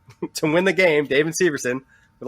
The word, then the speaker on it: Severson: from The Brew jackets know that it's not Severson it's Severson he has said Severson a million times Damon should go with